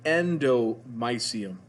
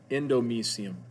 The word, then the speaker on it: endomysium: see is called the endomysium endomysium different pronunciations you can do use either one e-n-d-o-m-y-s-i-u-m endomysium foreign capillaries